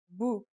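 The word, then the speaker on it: بُ: as B and finally here's the dhamma it changes the pronunciation to boo now let's practice writing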